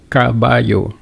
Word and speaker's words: caballo: We can use caballo.